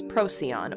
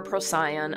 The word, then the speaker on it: Procyon: Major, and then here is Procyon, or Procyon, I've heard it pronounced both ways, and this small two-star constellation is known as Canis Minor, and these are the hunting dogs of Orion.